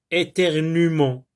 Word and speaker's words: éternuement: Vous avez aussi les verbes qui se terminent avec UE, comme éternuer, éternuement, tuer, tuerie. Le E ici ne se prononce pas.